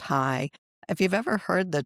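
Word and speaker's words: Chai: And that's because it's a Hebrew root word, but it's pronounced high.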